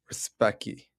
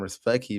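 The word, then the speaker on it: Rzepecki: We have Chancho versus Respecki. Pretty sure that's how you say it, even though it's RZP.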